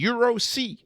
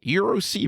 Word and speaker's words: EURC: EURC, I don't even know how to say it. EURC, Euro C, Euro C, there you go.